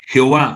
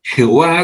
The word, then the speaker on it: Jehová: Jehová supuestamente se pronuncia como Yahvé, que está en el seno del Padre.